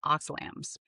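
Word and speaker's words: oxylam: Because linoleic acid oxidizes into metabolites called oxalams. That's spelled OXLAM. These oxalams activate the TRPV1 receptor.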